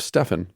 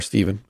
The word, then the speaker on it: Stephen: told the story of Stefan the martyr or Stephen if you'd want to mispronounce it careful historians of that